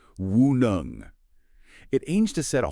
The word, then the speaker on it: WuNeng: That's pronounced WuNeng.